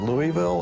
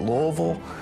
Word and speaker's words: Louisville: Well, how do you pronounce Louisville? Is it Louisville or is it Louisville? I think I say Louisville. Of course, I'm from Western Kentucky.